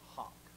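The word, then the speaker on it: hough: the word it's pronounced Hawk that's not how it's spit over the word is spelled h-o-u-g-h but it's pronounced Hawk now the word Hawk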